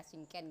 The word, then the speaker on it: cinquain: itu artinya lima nah cara membacanya seperti kita bahasa Inggris ya singken gitu ya Nah kemudian singken ini